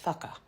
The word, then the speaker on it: whaka: In the sort of middle of the motu, that would be pronounced whaka.